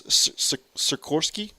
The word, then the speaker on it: Sikorsky: Like they put 3 syllables out there a little earlier, and it said sick or sky. And I'll even forget again. So it's Sikorsky.